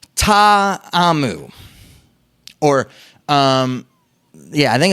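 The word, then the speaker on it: Ta'amu: the battle Hawks QB you're pronouncing it Tom out but the correct pronunciation is taw a mu or yeah I think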